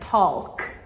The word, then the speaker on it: talk: Number six, silent L. We have words like talk or would. So, to talk, we actually spell this t a l k. But, we never ever pronounce it like talk.